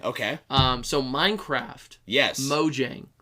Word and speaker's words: Mojang: um so Minecraft yes Mojang how do you pronounce it Sam moang oh that's cute I like it moyang is cute like a like a flare yeah Mo Jang unfortunately the Jay makes a sound unfortunately un um mojing